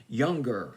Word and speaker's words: Youngr: 26 down from 17 younger i believe that's how you pronounce the name y o y o u n g r no e in it with boy from